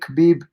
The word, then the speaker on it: Khabib: do you think make khabib or habib numerometer i always sound calm khabib i go back and forth sorry guys i know the k is silent but either way so